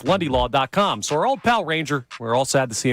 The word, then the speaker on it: Ranger: So, my name is actually Ranger, but however you guys want to address me, Ranger is how most people do, so I'm comfortable with either.